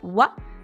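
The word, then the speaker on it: は: dit c'est un ici c'est bien la particule W qui s'écrit ha mais qui se prononce W c'est la particule de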